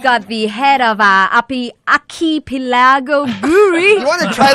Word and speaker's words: Archipelago: It's Archipelago.